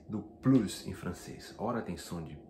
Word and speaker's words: plus: Português, o francês é plus, ele tem um S que não é pronunciado em basicamente dois casos.